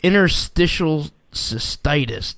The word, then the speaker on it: interstitial cystitis: her kratom story um you were diagnosed with interstitial cystitis did i say that right you said it